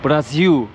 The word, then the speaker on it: Brasil: Bu arada biz Brasil diye okuyoruz ya da Brezilya diyoruz ya Türkçe'de. Brasil olarak telaffuz ediliyormuş. Orijinal haliyle. Brasil.